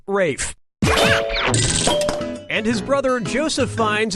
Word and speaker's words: Ralph: Ralph has to Ralph, Reef has to Ralph, Rolf has to Ralph, or Rafe has to Ralph? Time is Yep, Rafe Fiennes' first name is spelled like Ralph, but pronounced Rafe.